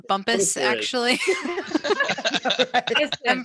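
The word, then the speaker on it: Bumpass: Before I ask my question, there is a bump ass Virginia also, which is near the North and a nuclear information center. It's pronounced bumpus, there is.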